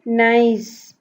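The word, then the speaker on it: Nice: नाइस, pronounce it नाइस.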